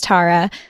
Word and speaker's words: Tara: My name is Tara, pronounced like Sarah, but with a T.